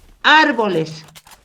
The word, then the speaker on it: árboles: Árboles. Lleva igual tono de voz en la antepenúltima sílaba.